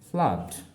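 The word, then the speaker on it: flood: কিন্তু এখানে দেখো ডাবল ও থাকলেও আমরা সাউন্ড পাচ্ছি কি আ। সেই হিসাবে এফ এল ডাবল ও ডি প্রোনাউন্সিয়েশন হচ্ছে ফ্লাড।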